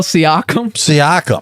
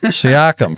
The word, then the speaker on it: Siakam: Sakanam or Saikim, or how do you pronounce his name? Pascal Siakam. Siakam for the Raptors.